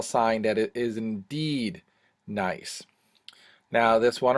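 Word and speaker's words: gneiss: this one right here hard to pronounce hard to spell sometimes it's nice g n e i s s and one of the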